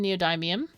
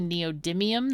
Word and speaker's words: neodymium: can't spell they should if they wanted it to be neodymium they should have done d-i-m-m uh as is a very uh a language rule that we all know like little if you want a short i sound you put a double consonant after the consonant but d y is uh definitely dyed like dynamite all right let's see